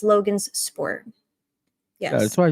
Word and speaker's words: Logansport: It's Logan's Sport.